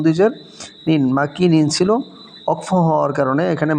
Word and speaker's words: مكين: মাকিনিন ছিল, ইম জবর মা, কাফ ইয়াজের কি, মাকি নুন দুইজের নিন, মাকিনিন ছিল। অক্ফ হওয়ার কারণে এখানে মাকিন নুনটা সাকিন হয়ে যাবে, এবং মদের হরফের পরের হরফে অক্ফ হওয়ার কারণে 3 আলিফ টান হবে, উচ্চারণ হবে মাকিন।